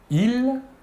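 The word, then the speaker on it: ils: Tout d'abord, le masculin, il, la S finale ne se prononce pas.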